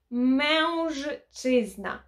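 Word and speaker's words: mężczyzna: Тому що чоловік польською звучить як мężczyzna. Мężczyzna. Чи зна. Я знаю, важко вимовити, але потрібно по складах вимовляти, і тоді все вдасться.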